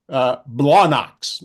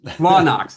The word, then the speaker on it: Blawnox: And so this, sorry, Kevin, Blawnox. Blawnox. That's Oh, what it well, is. no, hold on. You got to say it like a Pittsburgher. It's Blawnox.